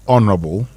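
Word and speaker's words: honourable: Honorable. Not honorable or honorable. That H is silent.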